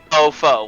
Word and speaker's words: Fofo: Fofo, like F-O-F-O. Okay. I thought you said I thought it was faux full, F-O-H, like an F-O-N. L. That's why. No, Fofo. Okay.